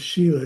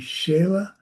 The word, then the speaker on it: shila: Um, Roxanna from Mexico says, "Shila, I pronounce Sheila. It should be Shayla."